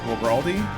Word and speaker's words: Guaraldi: It's pronounced, Guaraldi? It's an Italian name?